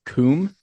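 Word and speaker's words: cwm: It is C WM, but it's pronounced Kum.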